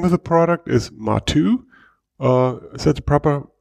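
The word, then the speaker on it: Matwo: understand it the name of the product is matu uh is that the proper pronunciation yeah exactly so in german we call it matu um so it's uh basically an abbreviation of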